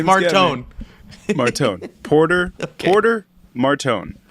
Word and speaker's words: Martone: of people believe it is a winger, Porter Martin. I'm bad with last names. If you haven't paid attention, or is it? No, I think it's. I don't know how to pronounce it. Martone, Martone.